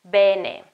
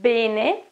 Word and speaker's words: bene: Va bene. Well, this is a case in which I would say bene, while the correct pronunciation is bene, with an open E at the beginning.